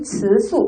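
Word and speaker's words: 词素: 네, 중국어로 형태소는 우리가 위수, 시작, 위수 혹은 츠수, 시작, 츠수라고 합니다. 자, 위수와 츠수, 어소 혹은 사소라고 읽혀지는데요.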